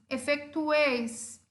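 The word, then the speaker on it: efetuéis: Efetueis, o tuês vai ser a minha última sílaba, ou seja, é uma sílaba onde a tonicidade está no tuês, é uma palavra grave e termina em S.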